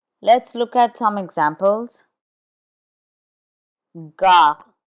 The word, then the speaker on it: gare: Gare, gare, which means station. It's followed by an A.